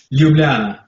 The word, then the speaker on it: Ljubljana: Ljubljana.